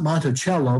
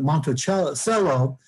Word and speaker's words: Monticello: outside south florida uh monticello not monticello but monte cello is uh pecans the